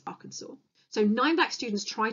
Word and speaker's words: Arkansas: So I know that looks like you'd pronounce it as Arkansas, but it's Arkansas.